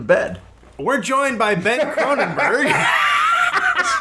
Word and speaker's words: Kronberg: And before you say it wrong one more time, my name is Croninberg.